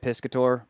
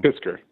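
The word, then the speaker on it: Piskor: It's the Ed Piscator. Piscator? I'm pronouncing that wrong. Pisker.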